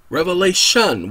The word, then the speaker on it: Revelation: Revelation without the S. Sorry, for most of my life, I pronounced it with an S.